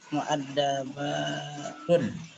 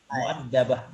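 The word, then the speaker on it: مؤدبة: Kalau disukunkan, diberhentikan, itu muaddabah. Nah, jadi muaddabah. ta marbutah itu kalau disukunkan jadi ha dia. Muaddabah bacanya. Jadi bukan muaddabat tapi muaddabah. Jadi ta itu jadi ha kalau disukunkan.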